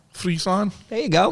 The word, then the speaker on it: Friesland: Friesland. Friesland.